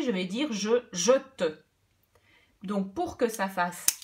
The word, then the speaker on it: jette: Quand je dis je jette, j'entends le son et. Donc, lorsque je vais écrire jette, je vais devoir mettre 2 T pour que ce E se prononce est.